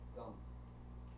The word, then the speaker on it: Gam: They call it a bija, a seed mantra, because all of the energy of him is contained within that one syllable, Gam. You could just say Gum, Gum, Gum, Gum, Gum, Gum.